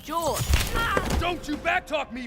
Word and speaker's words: Jorge: one up get it Jorge my name is pronounced George don't you backtalk me Jorge what's happening I don't